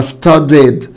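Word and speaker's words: studied: كلمه شكل كلمه ستادي، نفس الكلام هتبقى ستاديد ستاديد ستادي يعني يذاكر ستاديد. يبقى اذا بنطق الاي دي اد، يعني بنطق الاي وانطق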